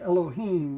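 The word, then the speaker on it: אֱלֹהִים: were to say this say the letters would be oh and this is the way in English we would say Elohim that's the way we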